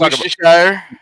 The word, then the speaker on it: Worcestershire: Hey, the only reason why we Worcestershire sauce is because we can pronounce it. That's the only reason. It's Worcestershire.